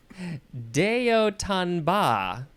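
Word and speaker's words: de haut en bas: the next word is Deo tanba I thought it was boss he tried he tried okay this is four words d e second word h-a-u-t which is just pronounced o third word e n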